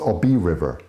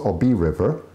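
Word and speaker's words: Obey River: The Obi, or yeah, Obi, yeah, pronounced Obi River. Yeah, it's pronounced Obi River, which is part of the lake.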